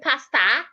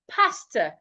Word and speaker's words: pastor: So do not say pastor, say pastor. Pastor, my pastor was not in church today, not church. We'll get to that word. So henceforth, when you're pronouncing words ending in O R, ensure that your mouth is not opened when pronouncing O and R at the end of a word.